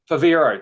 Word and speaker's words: Favero: I'm not even going to be able to pronounce it. Starts with F. Um and uh Favero.